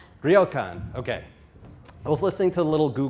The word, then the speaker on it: ryokan: I tried to get the pronunciation for this right yesterday. Ryokan? Ryokan.